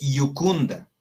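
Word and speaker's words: iucunda: Entonces, Jucunda se lee Yucunda, que quiere decir alegre.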